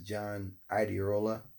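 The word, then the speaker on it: John Iadarola: And I learned about this on what's this, John Iderola, first time I pronounced his name right, on the Damage Report.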